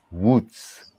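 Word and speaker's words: Łódź: a party at the a polish friend of mine tried to teach me how to pronounce this name wutz is it's spelled l-o-d-z but it's the film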